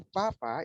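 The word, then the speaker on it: 爸爸: Kalau papa itu dia nada keempat, ya.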